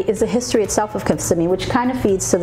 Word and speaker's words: Kissimmee: The correct pronunciation of Kissimmee is Kissimmee. It's Kissimmee, not Kissimmee. Kissimmee.